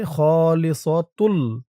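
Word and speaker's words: خالصة: ওই পৃষ্ঠায় শেষের শব্দ খলিসতুন ওই লাস্টের তা দিয়ে আপনি যদি এই পৃষ্ঠার এইযে তাসদ লামকে ধরেন তাহলে উচ্চারণ হবে খলিসতুল খলিসতুল লিজুকুরিনা এমন হবে আমি যেহেতু এখান থেকে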